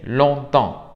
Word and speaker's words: longtemps: Alors, après-demain, aujourd'hui, avant-hier, bientôt, déjà, demain, depuis, encore, enfin, ensuite, hier, longtemps, que no se pronuncia ni la P ni la S, longtemps, maintenant, parfois, puis, quelquefois, souvent, tard, tôt, toujours.